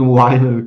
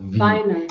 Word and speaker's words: Vinyl: Englisches V. Wird, glaube ich, V ausgesprochen, gell? Was? Ich weiß gar nicht, Wine. Heißt das Vinyl? Ja. Vinyl. Das ist ja kein W. Nein, es ist ein V. Ein V, also Vinyl.